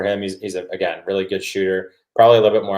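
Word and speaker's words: Schutt: It looks like Shut. It's pronounced like Shoot, and I think that's what he's going to do.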